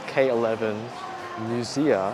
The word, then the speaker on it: K11 MUSEA: So we are actually at a new shopping mall, K11 MUSEA, I think that's how you pronounce it.